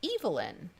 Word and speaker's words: Evelyn: parts of europe um e v e ly n was pronounced evil in so that like famous